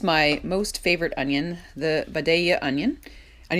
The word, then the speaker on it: Vidalia: most favorite onion the Vidalia Onion and you notice how I pronounced that it was with my best Georgian accent I love these onions